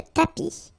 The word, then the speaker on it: tapis: Remember final S not pronounced. Le tapis.